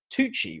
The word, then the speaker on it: Tucci: has managed to bring in Stanley uh uh Tucci right that's is that how it's pronounced yes yes super super and yeah and